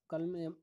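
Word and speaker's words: culm: कल्म L silent है, तो इसका राइट आंसर है ऑप्शन डी।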